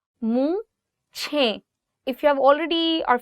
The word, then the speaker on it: मूछें: You can see there is the word che, and then you have he, and you're joining the two words che he, and it becomes ch, ch. Mooche.